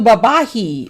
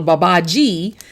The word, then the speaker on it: Babaji: today is yes little babahi or little babaji depending on whether or not you pronounce the j b a b a i think i'm going to go with babaji for now so this